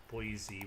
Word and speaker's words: Boise: um spy i think this is boise which rhymes with noisy noisy boise all right that's fine